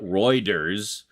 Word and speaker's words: Reuters: Associated Press they're both newswire services well yeah r e u t e r s anything like people that take steroids no not Reuters Reuters oh it's pronounced Reuters but um yeah that's where I